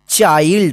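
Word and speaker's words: child: इसको क्या पढ़ा जाएगा चाइल्ड इसको चिल्ड मत पढ़िए ठीक है ना चाइल्ड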